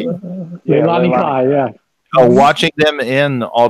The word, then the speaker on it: Leilani Kai: Leilani Kai? Leilani Kai, yeah.